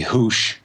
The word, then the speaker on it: Hoosche: It's HOOSCHE at Gmail. It's basically Hoosh at Gmail with a silent E.